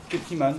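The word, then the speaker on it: Kutiman: Ça s'écrit K-U-T-I-M-A-N. Cuttyman, voilà, c'est très très bien, je vous conseille de l'écouter.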